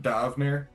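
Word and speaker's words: D'Avenir: Davnear?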